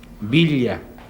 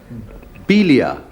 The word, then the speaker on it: Villa: Villa. Villa. Yeah. Yes. Yes. Not with a V, but a B. Villa.